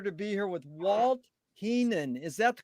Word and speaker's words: Heenan: and a pleasure to be here with walt keenan is that the correct way to pronounce the kate your last name you you